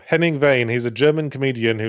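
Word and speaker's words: Henning Wehn: Um, Heming Vain, was that you pronouncing Hemingway weird? No. Henning Vain.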